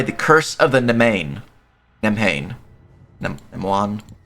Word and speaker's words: Nemhain: Nemwan. It's Irish. I don't know how to pronounce it, to be honest. I'll figure out how to pronounce it real quick just to make sure. Pronunciation. Navon.